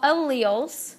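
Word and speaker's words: allele: you say that word Al okay I know a lot of times when you look at it you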